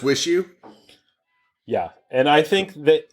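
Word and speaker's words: WIXIW: you oh that's awesome it's spelled like you said capital letter w i capital i w IX i w and all capital letters but but it's wish you yeah and I think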